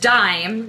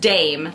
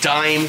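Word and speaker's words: Daim: candy okay it says this candy is pronounced dime like your money okay but a lot of americans think it's pronounced dame this is a classic and a favorite okay so this is dime candy dime oh i've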